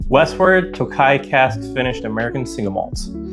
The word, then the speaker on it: Tokaji: He's also the one that told me it's pronounced Tokaji, so if that's wrong, come for your Rishi.